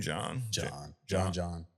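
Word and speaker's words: J'onn: All right, third, your boy, Martian the Manhunter, Jayon. How do you say his name? John.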